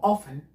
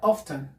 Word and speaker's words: often: eeuu se pronuncia como off en en otras partes se pronuncian como auster en el reino unido con el acento británico se pronuncia often efe ahora usted significa